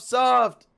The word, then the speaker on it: Czoft: Chiptune artist, C's off, soft. What's up? What's up? What's up, man? The Z is silent. Yeah, it's just soft.